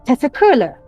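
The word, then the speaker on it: teşekkürler: If it's formal, Tetsukurler.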